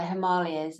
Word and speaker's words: Himalayas: The Himalayas, or the Himalayas, as some people pronounce the Himalayas.